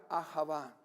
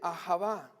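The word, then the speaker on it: אהבה: de la palabra amor en el hebreo se pronuncia de esta manera a java la palabra amor en hebreo se dice a java qué significa atención y afecto que una persona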